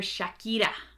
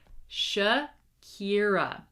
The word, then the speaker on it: Shakira: You might be trying to pronounce them in English and you don't even realize that you're still using sounds from your native language. For example, Spanish speakers, I don't want to hear Shakira, okay?